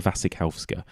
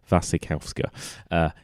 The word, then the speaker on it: Wasikowska: new movie out called a piercing starring Mia Wasikowska did I pronounce that right I always forget Mia Vasek house go Mia Wasikowska yeah he's got a new movie out and